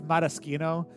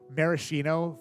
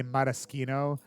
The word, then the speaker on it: maraschino: miracino yeah it in in Italian it's it's Maraschino but like so a lot of people will say marashino for the bright red uh cheaper cherries and then we'll say Maraschino for the nicer cherries just so there's